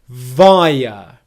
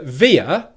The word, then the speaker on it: via: So 'via' In American English pronunciation you might potentially hear this being pronounced as a via but in British English, it's the /aɪə/ triphthong.